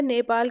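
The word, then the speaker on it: Dnieper: यहां पर हो जाएगा नीप नदी यहां डी साइलेंट है विकल्प सी आपका सही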